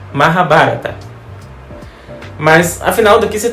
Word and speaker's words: Mahabharata: No início eu achava que a pronúncia era Mahabharata. Não faça como eu e aprenda a pronúncia correta. Mahabharata.